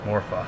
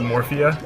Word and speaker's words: Morpha: giant aquatic amoeba morpha this is another boss that i pronounced or another term that i pronounced incorrectly for my entire childhood i used to call it morphia even though there's no i in there i don't know i